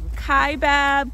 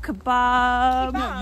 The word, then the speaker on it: Kaibab: different people say or pronounce it differently kaibab kebab you say you say kebab oh my gosh it's not it's not a piece of meat we decided to park